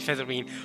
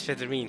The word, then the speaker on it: Featherine: just gonna call you featherine also I heard Angel pronounce her name is federine so I'm guessing that's correct Monday night child of